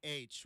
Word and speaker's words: Couch: We also have Couch, which is Cooch Street in Portland. So, yeah. No, exact. It was a man's name. We understand that. But, yeah, everybody's going to call it Couch until you correct him.